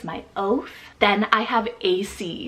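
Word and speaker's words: Acie: meaning God is my oath then I have AC it's spelled a-c-i-e-a-c a very cool but playful four-letter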